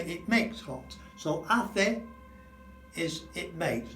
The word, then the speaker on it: hace: So hace is it makes. Notice you don't say the H, it's A and E and A and O. Just like the vowels, hace calor.